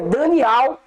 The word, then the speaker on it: Daniel: falou o profeta Daniel, aqui tá escrito Daniel, irmãos, mas a pronúncia certa é Daniel.